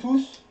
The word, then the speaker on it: tous: So here you don't pronounce the S tous les jours. You don't pronounce the S because it's an adjective. Here you do pronounce the S because it's a pronoun. Tous sont venus.